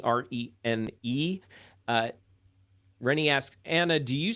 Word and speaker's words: Rene: Okay, so I have a question in the chat, and I believe we pronounce his name Rene, R-E-N-E.